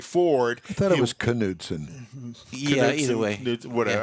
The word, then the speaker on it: Knudsen: i thought it was knudsen yeah either way whatever i always called it nudeson because the k is silent that's why i'm honored